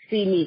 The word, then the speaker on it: Si Mee: why name see me pronounce see me because it's si and EE for her those were